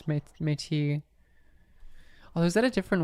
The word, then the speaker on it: Métis: But it's métis, like with an S-E. Although, you know, it's called métis, like it's spelled METIS, but then in English it's in French Canadian it's métis.